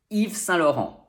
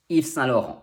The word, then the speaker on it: Yves Saint Laurent: Next, we have 2 nasals. We have un in Saint, which is spelled here A-I-N as a trigram, but it's more often the digram I-N. And we also have en, which is spelled here E-N in Laurent.